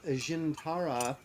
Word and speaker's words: Djinntara: to promote this book called jintara uh rise of the jins I guess the D is silent uh uh sort of